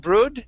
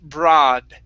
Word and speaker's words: broad: Instead of brood, this word is broad.